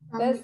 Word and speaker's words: stomach: It's a K sound at the end, not a Ch sound. K sound, okay? Stomach.